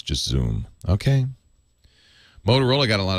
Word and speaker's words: Xoom: it looks like it's zoom no it's just zoom okay motorola got a lot of attention but